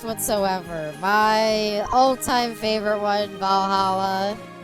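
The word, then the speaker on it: VA-11 Hall-A: my all-time favorite one, Valhalla, spelled like VA-11.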